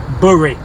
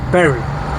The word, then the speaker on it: Bury: I'm on my way to a place called Bury, or some people pronounce it Bury, but it's Bury, B-U-R-Y, Bury.